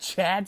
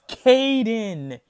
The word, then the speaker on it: Caden: you know they said Chad Stern it's not even how you say his damn name you dumbasses it's Kaden Caden say it with me Kaden c-a-d-e-n Stearns that's how you say it now I know chadstone